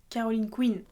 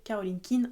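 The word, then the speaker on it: Caroline Quine: D'ailleurs, quand j'étais plus jeune, je prononçais Caroline Queen. Sachant que les livres étaient américains, je pensais qu'il fallait le prononcer comme ça. Et c'est quand j'ai su que le nom original était Caroline Kein que j'ai compris qu'on était censé prononcer Caroline Kein en français.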